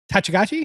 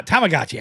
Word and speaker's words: Tamagotchi: Ta- uh Tachigachi? Is that No. Ta- Tamagotchi.